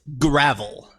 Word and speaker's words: Gravell: Did I pronounce that right? Gravel or Gravell? What's the right It way? is Gravell.